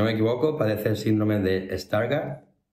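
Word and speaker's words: Stargardt: equivoco padece síndrome de stargard pronuncia así tal cual se llama síndrome de starg parece que sea una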